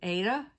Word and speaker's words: Aida: can be worked on aida as well as linen and by the way when i say aida i realize a lot of people pronounce it ada and we're talking about